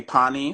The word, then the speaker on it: Pani: Everybody, my name is um uh aka Pani. So that's how we pronounce it.